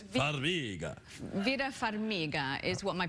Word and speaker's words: Farmiga: Well, I'm Ukrainian of heritage, but it does sound Italian. It does sound Italian, Farmiga, but it's not Farmiga, it's Farmiga.